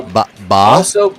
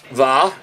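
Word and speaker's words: Vaquer: Uh ba ba like a sheep. Ba va. It's a v. No. Ba. I know because in Spanish V is being ba like a sheep.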